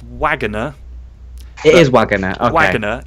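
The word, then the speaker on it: Waggoner: know this and I was definitely surprised it's pronounced Wagoner it is wager okay wager yeah I thought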